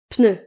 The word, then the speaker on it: pneu: Il y a certaines personnes notamment dans le sud de la France qui vont dire un pneu. Un pneu mais ça se prononce un pneu.